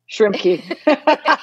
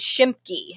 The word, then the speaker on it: Schimpke: name and call you shrimpy shrimpy that is not the correct pronunciation listeners it is shimki so Christy thank you